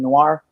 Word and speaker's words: Noir: Noir? Yeah, Noir.